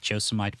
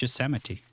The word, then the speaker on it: Yosemite: I heard about uh Yosemite I didn't understand because I always thought it was a josomite park but apparently it's Yosemite yeah at least like